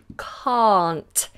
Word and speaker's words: can't: word can't can't now the reason this confuses many people is because the shorter version can the positive version I can do it is pronounced completely differently we have a short vowel can I can go I can and then on the negative version I can't I cannot I can't we have a long vowel open mouth can't